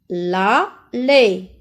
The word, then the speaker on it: allée: Samy est dans l'allée. E à la fin ne se prononce pas.